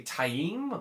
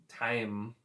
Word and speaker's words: Taim: said uh massrem tame they didn't quite say taim which is apparently the correct pronunciation i've heard it was more like um time so it was a